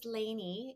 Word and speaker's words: Lainie: And my first name is Laneany. It's spelled L A I N I E.